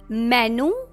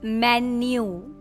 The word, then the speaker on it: menu: Menu? What is in menu today? No. This is called menu.